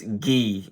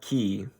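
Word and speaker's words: gi: It's Gee, not key.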